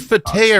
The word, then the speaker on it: Fateh: I think the And move is it Fateh or Fatah? I always say it wrong. It's both. It's both. Okay. It goes either way.